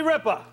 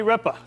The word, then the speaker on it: Ripa: puzzle please all right Regis filburn and Kelly Ripper no I'm sorry we can't accept that and